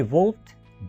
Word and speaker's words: wolfed: शी वोल्फ्ड down, यहाँ पर मैंने इसको हल्का सा टी के जैसा प्रोनाउंस किया है। तो जब दो डी इकट्ठे आ जाएं तो आप इसी तरह से इनको प्रोनाउंस करेंगे।